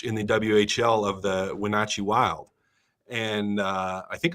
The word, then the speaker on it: Wenatchee: the head coach in the who of the Wenatchee Wild and uh I think I'm saying that